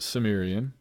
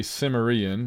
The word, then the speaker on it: Cimmerian: the coming of Conan the Cimmerian that's how i pronounce it Sumerian I know that some say Sumerian which seems ridiculous to me but these are